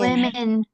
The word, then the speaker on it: women: Ayo, gimana ini pengucapannya, Gengs? Women. Women.